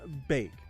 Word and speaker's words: Baek: It's Bake. Okay. Bake. I never knew how to pronounce that name since like Tekken 2 or Tekken 3.